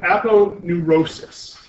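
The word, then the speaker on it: aponeurosis: that is called an Appo Neurosis that's how you would pronounce that word appu Appo neurosis and this is going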